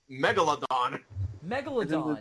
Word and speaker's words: Megalodon: it Megalodon have I pronounced have I been pronouncing it wrong all these years you cut it with megawatt Megalodon yeah that's it you said megawatt at first